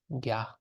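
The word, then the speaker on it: རྒྱ: then you see, okay, there's something on the top. What does this do? Because this is on the third column, then it makes it go high or like just like a normal G sound, ga. And then there's a yatak. So what the yatak does is it goes in between the consonant and the vowel. So then this is gya, gya.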